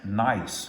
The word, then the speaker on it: gneiss: This first one is granite gneiss, and that is spelled Gneiss, but pronounced like have a nice day.